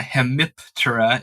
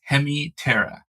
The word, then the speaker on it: Hemiptera: But like, it's not Hemiptera, it's Hemiptera.